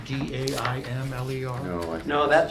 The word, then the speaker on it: Daimler: I think Ruth Daimler is, I think you got her last name wrong. Demler.